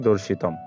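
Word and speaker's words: দর্শিতং: ত ত ঠিক থাকবে এবং অনুস্বর সমান আমরা শব্দের শেষে থাকবে যেহেতু জানি ম ফলে আমরা ম নিয়ে নিচ্ছি তো আমরা এখানে পেয়ে যাচ্ছি দেখো দর্শিতম তো এভাবে আসলে দর্শিত থেকে আমরা তার শুদ্ধ উচ্চারণটি পেয়ে যাচ্ছি দর্শিতম তো একইভাবে পরবর্তীতে দেখো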